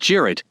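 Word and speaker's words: Cirit: traditional turkish horseback game cyrit pronounced jarrett where two teams of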